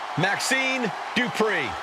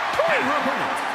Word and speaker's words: Dupri: Here comes the talented Maxine Dri. Uh, Michael, it's pronounced Drippon representing the Alpha Academy from Phoenix, Arizona, Maxine Dri.